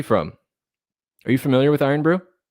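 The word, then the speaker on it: Irn-Bru: Roll your R's when you say brew. Iron brew. Iron brew.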